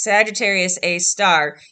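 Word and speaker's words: Sagittarius A*: and then the star the little asterisk at the end is pronounced star so it's sagittarius a star even though it's one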